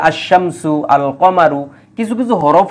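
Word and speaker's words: الشمس: লাম উচ্চারিত হয় আবার কিছু কিছু হরফ আছে তাদের পূর্বে আলিফ লাম বসলে আলিফ লাম উচ্চারিত হয় না যেমন যেমন দেখেন আর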